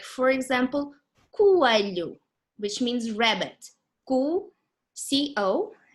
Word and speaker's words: coelho: 2 vowels together, but they actually in different syllables. Like for example, coelho, which means rabbit.